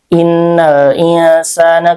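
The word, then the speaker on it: إن الإنسان: innal insa insa insa di situ ada ikhfa ausad ya karena nun sukun bertemu dengan sin ya huruf ikhfa dibacanya ee nun sukunnya samar ya dan disertai dengan gunah atau dengung. Innal insana ketukannya 2 3 sampai emp harakat.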